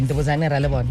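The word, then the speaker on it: Ndivhudzannyi Ralivhona: You were born, I'm going to try and pronounce it. Ndewudzani. Yes. Ndewudzani Ralebona. Am I pronouncing it correctly? Ndewudzani Ralebona. Yeah.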